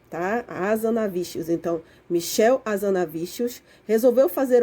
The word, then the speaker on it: Hazanavicius: maicon tá gente é michel tá e se pronuncia hazanavicius tá a zona vícios então michel hazanavicius resolveu fazer uma homenagem a